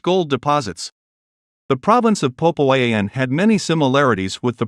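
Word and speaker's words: Popayán: The province of Popayan, emphasis on the last syllable, is famous for becoming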